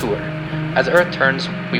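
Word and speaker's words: Altair: The brightest star in Aquila is pronounced Altuur.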